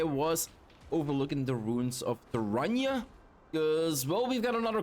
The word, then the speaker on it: Turayne: Turayne. Okay, thank you for pronouncing it correctly again. Turayne, guys. Like terrain, but then Turayne? Rain?